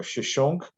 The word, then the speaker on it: Shishonk: And so Shishak, or Shishonk, as is the Egyptian pronunciation, is very, very critical in pinning down the historicity of this narrative.